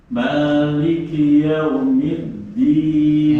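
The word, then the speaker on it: مالك يوم الدين: Maliki yaumiddin. Jangan sampai keluar di. Nah, coba sekali lagi. Maliki yaumiddin. Nah, insyaallah. Mas Iwan. Maliki yaumiddin. Nah, saya. Nggak boleh E ya. Harus I-nya harus sempurna. Middin lagi.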